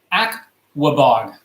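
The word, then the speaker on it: Aquebogue: the way we pronounce this New York city is Aquabog.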